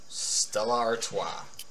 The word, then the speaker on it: Stella Artois: Stella Artois.